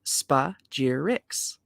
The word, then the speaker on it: spagyrics: Thus, the aspiring alchemist seeks to separate these three parts and recombine them, giving rise to the word used by Paracelsus, spagyrics, pronounced spa-gyr-ix.